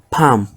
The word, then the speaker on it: palm: We have lm, where the l is silent, as in sam, palm, cam, ban, and golf.